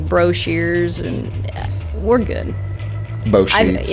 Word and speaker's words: Boshears: You said Boshears. I always say Boshears. You were putting the emphasis on the first syllable.